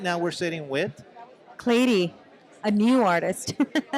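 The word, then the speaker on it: Cleiri: now we're sitting with clady a new artist clady I like that Clayton how do you spell that c-l-e-i-r-i and you pronounce it like lady but with the c really awesome so go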